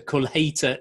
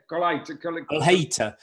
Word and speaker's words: Colheita: Right, have you got this fella, the Colheita 2005? Colheita. You pronounce all the words Colheita.